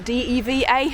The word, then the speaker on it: Deva: bridge here that goes over the river diva or diva deva it's spelt diva dava and unbelievably a couple